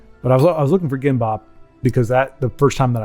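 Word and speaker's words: 김밥: All right, so it's probably GMAP, but because I'm gonna say it's Gimbop. That's the name, Gimbop, or Kimbop as it's often pronounced.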